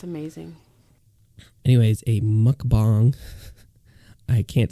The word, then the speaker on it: mukbang: do you know about mukbangs oh could I pronounce it right it is that's so it's Korean I look you know I listen to a Korean pronunciation of it a lot of people